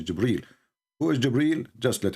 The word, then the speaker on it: Jibril: It says Jibril.